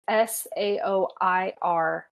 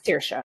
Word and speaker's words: Saoirse: So if I can remember correctly off the top of my head, it's Saoirse. Okay. Saoirse.